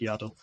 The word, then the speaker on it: Yaddle: that Yoda is the father of grogu and yadel I I pronounce it yaddle it's the mother so because they're the only